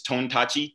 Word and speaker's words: Tontachi: come from it but it's tontachi t-o-n t-a-c-h-i a-r-ton touchy so it sounds like it sound it's spelled like it sounds but uh tonight ar i'll